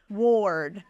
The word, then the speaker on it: ward: flight right or or it's not the letter O It's a r but it's still sounds like or o r does that make sense Ward Michelle yo wanted a